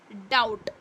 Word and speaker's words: doubt: DOUBT है ना, DOUBT लिखा है। So this is pronounced as डाउट, एक तरह से ऐसा डाउट है ना, ऐसा। B इज साइलेंट हियर, ठीक है।